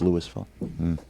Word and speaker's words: Louisville: Coos and Notre Dame Louisville and Louisville it's pronounced Louisville Colonel Sanders with the white college football you